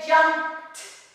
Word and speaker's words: jumped: We say, we eliminate the sound, el sonido, of e, see, we eliminate the e. So we're gonna say jumped, so it's strong, jumped, jumped.